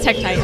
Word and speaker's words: Tektite: Is it called a Tektite? I think I'm getting the name wrong. Hold on, let's see. Oh no, it is Tektite.